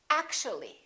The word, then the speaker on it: actually: and we say basically take a look at this one actual three syllables actual but if we add the l y like here this disappears and we say actually actually we don't say